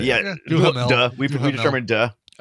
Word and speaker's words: Duhamel: Yeah, Yeah, Duhamel.